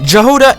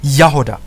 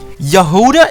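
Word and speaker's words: Jahoda: So the correct pronunciation would be J-hoa-duh. J-hoa-duh is sort of okay, but J-hoa-duh is perfect. The O there is pronounced very short.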